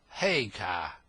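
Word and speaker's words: Haigha: when he's happy his name's his name is haar he pronounced it so as to rhyme with Maya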